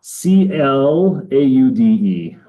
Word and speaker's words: Claude: C L A U D E. Like the French name like Claude, the old French president, right?